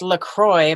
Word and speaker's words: lacroicsz: weird one it's pronounced lacroix but it's spelled l-a-c-r-o-i-c-s-z it's like a polish spin on lacroix that i made up four years ago and just haven't changed